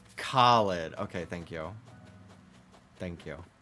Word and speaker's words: Khalid: I don't know how it's pronounced. I need... Ooh, beautiful lady. It's Khalid.